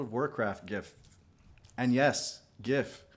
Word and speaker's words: GIF: And yes, GIF with a hard G.